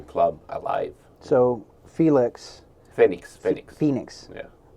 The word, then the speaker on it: Fenix: alive so felix phoenix phoenix yeah like phoenix how do you spell it f-e-n-s-e-n-i-x okay so it's it's it's it's basically it's like phoenix okay phoenix got you